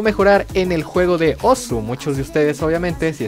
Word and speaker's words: osu!: Y bien, Osu, con la correcta pronunciación de Oz, aunque nadie le dice así, es un juego de